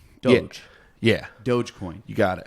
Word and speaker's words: Doge: Doge. So say Dodge, but not the next D.